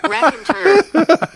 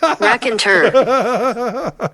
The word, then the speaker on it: Raconteur: rer Ry straight rye whiskey that was great R and turn R and turn well now that we know how to pronounce rack andur rack andur that's enough oops oh manid this